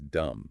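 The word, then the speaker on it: دم: If you apply the E sound, the word is dam, meaning breath. If you apply the U sound, the word is dumb, meaning tail.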